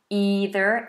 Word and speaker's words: either: either and neither so in America this American English these are either and neither with a long e either neither in British English it's an